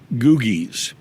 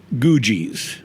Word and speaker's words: Googie: and I do have to mention it is pronounced googies googies not not gujis okay and I get that question all the